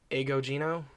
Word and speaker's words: Agogino: His name is George Agogino. Agogino? It's like ago, like a long time ago. Okay. And then Gino.